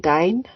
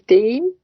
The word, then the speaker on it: Deyne: So I know some people pronounce it Dane, but it is Dean.